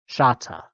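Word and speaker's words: śata: And that means that the k comes out as this, which is pronounced as a sh, shata.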